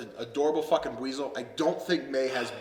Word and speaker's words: Buizel: you said Weasel? Buizel. Weasel. Okay. Weasel. Okay. Weasel. I was like, have Weasel. I been saying it wrong the whole time?